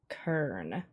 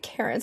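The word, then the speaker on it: cairn: Google says it's Kern. Okay. I always get Karen, so I just assumed, hey, it's okay.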